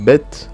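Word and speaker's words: בית: Donc la lettre Bet, c'est le son B comme dans bain.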